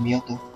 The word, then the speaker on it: Mewtwo: Así se pronuncia, el Mewtwo.